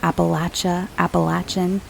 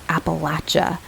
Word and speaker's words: Appalachia: I did want to address my pronunciation of Appalachian. I was told years ago by someone from West Virginia that that's how they say it, as Appalachia, not Appalachia, which is the way I grew up saying it, the Appalachian Mountains.